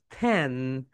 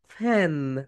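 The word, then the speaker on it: fan: যখন তোমরা F pronunciation করবে তোমাদের উপরের দাঁত নিচের ঠোটের সঙ্গে টাচ করবে। সবাই বল ফ্যান ফ্যান।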